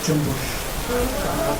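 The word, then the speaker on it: Cumbus: So don't pronounce it the way it's spelled. Pronounce it Jumbush.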